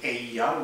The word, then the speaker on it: Eyja: words and you can break it down into Aya which is Island fatla which is mountain and